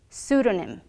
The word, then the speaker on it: pseudonym: but is sometimes silent we don't pronounce when it begins a word and is followed by the letter s for example psychology pseudonym psychological the is also silent at